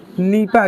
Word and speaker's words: NIEPA: इसका प्रोनाउंसिएशन जो होगा हम लोग किस रूप में करेंगे? नीपा के नाम से।